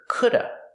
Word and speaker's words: could've: Sometimes you'll hear coulda. People will not pronounce the v sound at the end, could've. They just say coulda. This happens only before a consonant.